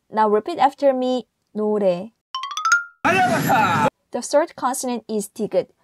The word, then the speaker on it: 노래: O is a vowel and sounds like O, but it's not no, it's no. So now repeat after me, 노래.